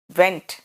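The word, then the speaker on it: went: वगैरह निकल जाए है तो कहते हैं वेंट वेंट और डब्लू ई एन टी वेंट समझ में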